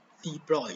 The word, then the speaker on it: de Broglie: De Broglie is pronounced as de Broglie. De Broglie is a Frenchman, so it's pronounced in French.